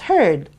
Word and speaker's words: heard: And then you have the word beard, which is almost spelled the same way except for the letter B. It's B-E-A-R-D. However, you pronounce it as beard. And you pronounce the word heard as heard.